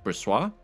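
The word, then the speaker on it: Brossoit: We can't play a season with Bressois. Thank you to the commenter that let me know that is how you say his name, Bressois.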